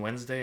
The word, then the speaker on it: Wednesday: calculus calculus and Wednesday lots of silent letters in Wednesday and Worcester H Min maybe this